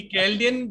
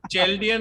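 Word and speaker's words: Chaldean: मैंने बोला ना कि कैल्डियन जो सही प्रोनाउंसिएशन है उसको चेल्डियन और शेलेडियन बोल के भी लोग पढ़ा ही रहे हैं ना सर।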